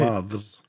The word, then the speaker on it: moth: Moths?